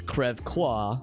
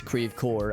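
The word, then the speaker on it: Creve Coeur: like De Pere is spelled d-e-s-p-e-r-e-s we do pronounce it correctly but others like Creve core now in French it's crev qua which is French for broken heart but here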